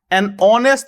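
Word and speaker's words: honest: হলো খেয়াল করে দেখেন অনেস্ট কথাটির উচ্চারণ বাংলায় হয়ে যায় এমন তাইতো আমি যদি বলি অনেস্টের উচ্চারণ বাংলায় হয়ে যায় এমন যার শুরুতে উচ্চারণগত দিক থেকে কিন্তু মনে হচ্ছে ও এর মত উচ্চারিত হচ্ছে অনেস্ট অনেস্ট ম্যান তাহলে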